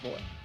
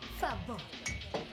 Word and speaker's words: favor: Una más de esa, por favor. Favor. Favor. La V se pronuncia como B.